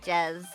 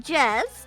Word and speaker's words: Jez: Jezebel Jez. I do mean Jez, not J.